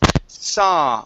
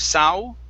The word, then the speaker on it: saw: here the word is saw only with an ah we do not want to pronounce an oo okay so instead of sao it's sa so uh-huh very good